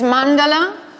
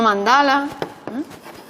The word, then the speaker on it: Mandala: Por tanto, es Arjuna, Arjuna y no Arjuna. Arjuna. Es Asana y no Asana. Es Sarasvati y no Sarasvati, es Parvati y no Parvati, ¿vale? Es Arjuna, es Asana, Sarasvati, es Mandala, no Mandala.